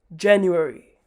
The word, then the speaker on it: January: up we've got is january so as you can see below the pronunciation trick is jan you airy january next up we've got